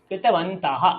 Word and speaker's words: कृतवन्तः: কৃতবন্তः, বিসর্গের উচ্চারণ করতে হবে ম্যাডাম। হ্যাঁ, आक्षेप না, আক্ষেপম কৃতবন্তः।